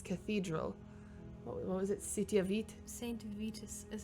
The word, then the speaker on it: Saint Vitus: Saint Vitus is how he pronounced it, or how we pronounce it in English.